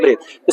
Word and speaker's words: breadth: इसको ब्रेथ कहा जाता है। क्या कहा जाता है? ब्रेथ।